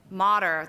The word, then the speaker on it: Motter: And then to his left is Megan Motter, that rhymes with water.